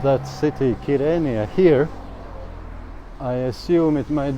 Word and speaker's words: Girne: it's kirania but if i called that city kirenia here i assume it might be offending you know all these things they call it girna so i have to know how to pronounce that city name so i need guinea